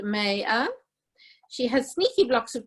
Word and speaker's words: Maya: Her name is pronounced Maya.